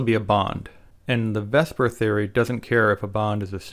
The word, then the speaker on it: VSEPR: spelt visepr but that sounds silly so we pronounce it vesper vesper is an acronym and it actually contains